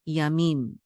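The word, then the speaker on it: ימים: So ya, me, and this mem sofit closes out this last syllable. So this is mim, yamim.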